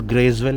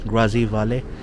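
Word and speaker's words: Grazie Vale: Now this sticker, a lot of people mispronounce it. Grazevale kya hai? It's not Grazevale, it's Grazivale.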